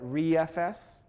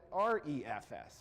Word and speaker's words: ReFS: it's resilient file system you'll hear some people call it re FS you'll call hear other people call it our EFS right so all of